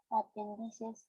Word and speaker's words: apéndices: del vaso semisférico, panzudo, sin asas y solamente apéndices sin perforar o perforados.